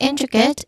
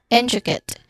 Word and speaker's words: intricate: Again, intricate. And lastly, we have viable. For intricate, our stress syllable is in.